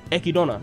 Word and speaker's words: Echidna: relax in my opinio i like the way they pronounce it in the japanese like they pronounce it ekidona like i like that